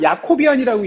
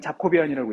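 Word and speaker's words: Jacobian: 자고이 갖다 쓰는 거고 가끔 저걸 야코비안이라고 읽는 사람도 있어요 그죠 여러분 제를 y 읽는 그 나라도 있죠 그 야코비안이라는 것도 하인 하지만 대부분 영어권에서는 자코비안이라고 읽어요 자 그러면 아까도 얘기한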